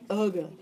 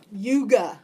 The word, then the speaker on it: UGA: It's not it's UGA. Get it right. UGA.